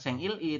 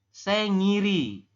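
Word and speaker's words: 생일이: Il I ya enggak Anda Bacanya jangan bukan seng Il I tapi sengiri ya sengiri seperti itu oke yang ini juga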